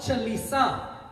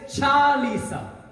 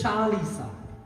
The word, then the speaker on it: Chalisa: The word is not Chalisa. I'll say it one more time. The word is not Chalisa. The word is Chalisa. The word is Chalisa.